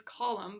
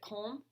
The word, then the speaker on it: Kolm: My last name is Collum, but spelled Kolm. So a lot of people pronounce it Colm.